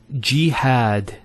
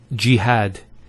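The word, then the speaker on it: جهاد: Next word is jihad. So we have here G, that's the first syllable, and then had, jihad.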